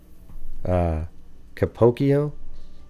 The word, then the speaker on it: Capocchio: Rhymes with Pinocchio. Capocchio?